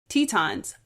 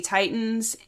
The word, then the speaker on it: Titans: Please keep in mind that due to translation that it's supposed to be pronounced Tetons, but due to the dub that I watched, I say Titans, and just for my sake, I will be saying Titans for now on, but it is Tetons.